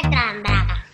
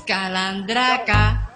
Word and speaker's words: calandraca: Pero mi primo me dijo que me iba a dar talandraca. Que son unos gusanitos que se... No se dice talandraca, es calandraca.